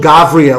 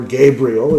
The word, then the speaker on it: Gavriel: a patience test so the angel gavriel or gabriel if you prefer the english pronunciation strongly pushed his idea